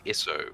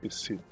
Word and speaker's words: Is'sð: Åvna of the Isith. You just want to be difficult, didn't you? They're Nordic runes. Sorry, of the what was the Isith. tribe? The last character is pronounced as a th.